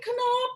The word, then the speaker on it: Knab: So that B is going to get a P sound. Okay. Yeah? Yes. So ein Knopf, ein. Yeah. Knop, ein, knop, ein, knop, ein. Yeah. Okay. So ein Knopf, ein Röslein stehen, Röslein auf der Heide.